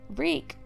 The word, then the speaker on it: Reek: won't forget his name reek reek it rhymes with sneak the night little Walder